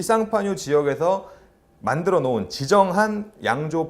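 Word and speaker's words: Champagne: 명칭 쓸 수 있습니다 근데 왜 어떤 땐 상판 여러 부어 어떨 때는 참 팬이라고 웨어에 상파뉴 는 불어 식 걸음 이구요 샴페인은 영어식 발음이다 보통 지명을 거론할 때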